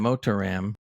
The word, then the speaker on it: Motiram: moton motoron ram something it's mot TI r a m motor Ram sounds like a RAM for a computer or motor anyway this game is